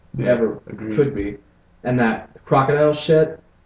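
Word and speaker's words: krokodil: you than marijuana ever could be and that crocodile well I don't know how to how to pronounce it no no you're saying it right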